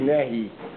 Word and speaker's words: Nehi: From Yud Kelim Chitzenium, as the Rebbe brings in the Rishimas with Nekudas, the Rebbe says the pronunciation is Nehi. Nehi, because it's Netzach. It's of Netzach. So I call upon him